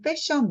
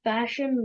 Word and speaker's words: fashion: Fashion model. Fashion model. 보통 한국에서는 패션 모델이라고 P 발음하잖아. 패션 하면 안 되지.